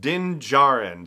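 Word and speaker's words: Djarin: we know the Mandalorians real name didn't Dinge aren so the D is silent on the last-named in gerund and we finally got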